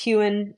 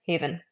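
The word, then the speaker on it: heuen: And finally, V is sometimes written as a U, still pronounced as a consonantal V. So if you see the word here, and you might be tempted to think it's hewn, as in to maybe chop something up, this would be pronounced as haven.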